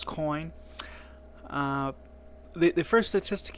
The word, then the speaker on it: Coyne: that coin gives and i went back to check that i am pronouncing the name correctly by the way it is coin uh the the first